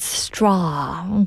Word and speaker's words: straw: Yes, it's straw. 그쵸? 조금 발음이 어렵긴 해요, 그죠?